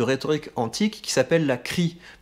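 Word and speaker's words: chrie: Le troisième exercice que je vous propose, c'est un exercice de rhétorique antique qui s'appelle la crie. Et donc crie, ça s'écrit C-H-R-I-E.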